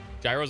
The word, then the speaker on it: gyro: Gyros are good. Chicken Marsala. Chicken Marsala is good. Gro. Uh, it's pronounced gyro.